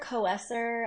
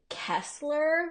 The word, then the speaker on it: Koesser: Koesser. I get Kessler. Like there's an L in there, Okay. which there's not.